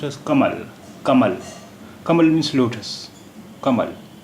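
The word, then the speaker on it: कमल: Kamal. Kamal. The first letter of this word is Ka. Kamal. The word is pronounced as Kamal.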